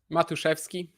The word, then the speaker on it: Matuszewski: Yeah, how am I doing with the pronunciation? Matuszewski. It's more of a chef than a suck.